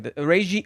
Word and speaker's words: Reiji: Can you please pronounce his name correctly? Reiji, like, why can't he say it correctly?